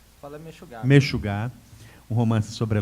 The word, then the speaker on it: Meshugá: Mexugá ou Mexugá, como é que se pronuncia? Fala Mexugá.